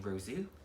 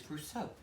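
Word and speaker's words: Roseau: i pronounce it and the gentleman said rousso so i've been saying rozu that is completely wrong it is rousso so this is the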